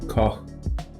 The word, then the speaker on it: Koch: Like in Danish you would pronounce it Koch, and it's from German.